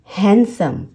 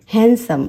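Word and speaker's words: handsome: And consonant, अगर ऐसा है तो डी उसमें साइलेंट होगा। For example हैंडसम, हैंडसम।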